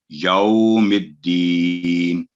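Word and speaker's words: يوم الدين: تو یہ سیدھا یو نہیں پڑھا جائے گا بلکہ یو نرمی کے ساتھ آواز لمبی کر کے 2 سیکنڈ یوم الدین.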